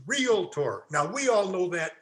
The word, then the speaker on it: realtor: by a mile realtor the word is not realtor it's realtor now we all know that in here but